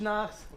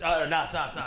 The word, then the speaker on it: Notch: My man Rich Knox. Yeah. Thank you. I think I butchered your last name. Rich Notch. Notch. Perfect, yeah, perfect.